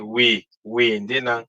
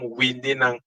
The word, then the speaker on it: windinang: We cannot say we ndinang. No, it become windinang with I, which if you pronounce it nakedly alone, it become a different thing. So I suggest not to do so, but you pronounce it windinang.